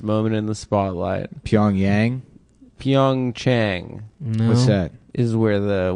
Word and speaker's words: Pyeongchang: the Winter Olympics are is it pronounced Chang or Yang because everyone Yang is the capital of North Korea yeah Chang is where the Winter Olympics is in South Korea where's pyeongchang oh speaking